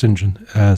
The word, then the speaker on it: St. John: by Sinjin Mandel at least I presume is pronounced Sinjin st.